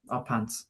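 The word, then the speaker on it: Y Pant: It's Y and then P-A-N-T. A pant. Our Pants.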